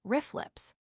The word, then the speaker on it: RFLP: We can detect RFLPS, sometimes pronounced riff lips, when the DNA of